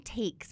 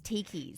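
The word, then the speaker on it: Tkees: you say that brand I just say tiys oh see I was saying tis but I think it's tikis yeah cuz it's t k es yeah okay anyway they're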